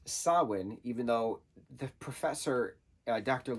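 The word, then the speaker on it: Samhain: m ha a i n uh which is pronounced sawin even though the professor Dr Lumis says Sam hay at one point and I'm like no it's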